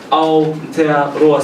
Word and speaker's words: Aotearoa: And this pronunciation of Māori is very similar to Japanese. So it's Aotearoa, so it's similar to the pronunciation, yeah.